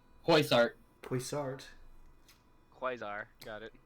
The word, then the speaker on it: Poisart: Parasite. I think I pronounced that wrong. Poisart.